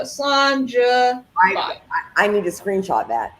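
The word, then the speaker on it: Slàinte: So John de la Cuisine has somewhat kind of a phonetic pronunciation of it. So Slanja.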